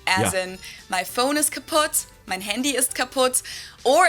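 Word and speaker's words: kaputt: moved to the us we spell it with two T's in Germany but we pronounce it the same way kaput and it basically has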